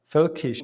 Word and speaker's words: völkisch: Völkisch.